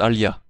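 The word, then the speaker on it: آلهة: Au pluriel, le nom Illah se prononce Alia, Dieu, au pluriel.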